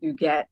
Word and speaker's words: Huguette: of customer service, and my name Huguette was confusing a lot of people, or they couldn't say it. And because the H in French is silent.